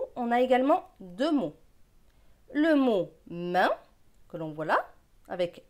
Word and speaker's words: main: AIN, c'est 1, donc M et 1, main.